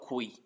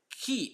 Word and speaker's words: qui: And second one is not qui, it's qui. Qui. Like just like your car keys.